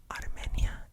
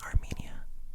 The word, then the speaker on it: Armenia: For me, I think personally, you should say it in the Spanish way, even if you're speaking English, because it's in a city in Colombia. That's just my personal opinion. Armenia is so easy to